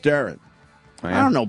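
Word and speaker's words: Deron: So I'm getting shit because I said Duran, I think, and it's pronounced Darren.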